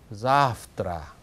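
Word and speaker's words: завтра: 그 다음에 내일 할 때는 강세가 앞부분에 있거든요. 첫 번째 아에 그때는 자프트라 이렇게 읽으면 됩니다.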